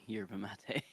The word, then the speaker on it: yerba mate: Is that yerba mate or? Yerba Mate. Yeah. Yeah. Yerba you should be able to pronounce because the Yerba Buena I think is a place in California that like a Hmm.